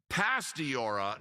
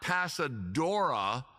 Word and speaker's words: Pastora: the lovely and talented the oft mispronounced name and I did it for years Jenna pastora not pasadora like an idiot said years for a